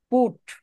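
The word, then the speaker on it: put: হ্যাঁ, তারপর পুট, এখানে ঠ এর উচ্চারণ বলার পর মুখ থেকে বাতাস বের হইতে হইবে, আপনি বাতাসটা বের করবেন।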